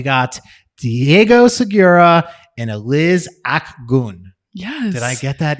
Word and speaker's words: Akgun: We got Diego Segura and Eliz Akgun. Yes. Did I get that even close to right? No, that's actually pretty close. Well, thank you Well, guys. say the exact. It's Akgun.